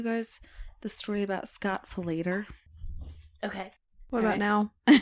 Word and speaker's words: Falater: I had to listen to that too because I wanted to make sure I pronounced it right, but it's Scott Falater.